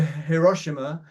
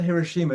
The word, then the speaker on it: Hiroshima: when we go to Hiroshima I think that's a way I think it's not Hiroshima it's Hiroshima I I looked up how